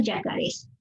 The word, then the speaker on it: yacarés: Ojo con la pronunciación, ¿eh? La Guerra de los Yacarés.